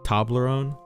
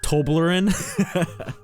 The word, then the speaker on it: Toblerone: have Ferrero chocolate bars tobler own is that how you pronounce it Toblerone it's not toblin a man bro is